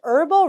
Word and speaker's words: herbal: manufacture of such herbal remedies and dietary supplement라 그랬어요. 이러한 어떤 그 허브를 이용한 발음 허브 아니고요. Herb브예요. 그리고 형용 사용이 되니까 herbal이라고 소리가 날 겁니다.